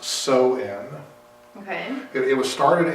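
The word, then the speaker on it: Samhain: it it kind of got it starts as Sam Hae Festival Sam hanne Sam ha spelled s a m h a i n and it's actually pronounced so in okay it it was started in the 10th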